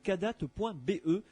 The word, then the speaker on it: Kadath: Donc il faut aller sur le site internet cadat.be. Cadat, ça s'écrit KADATH.be, et là vous allez pouvoir commander la ou les revues plutôt.